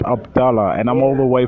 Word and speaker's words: Abdallah: your name right because sometimes I just call you but Abdullah that's that's that's the right that's the right pronunciation yeah yeah I mean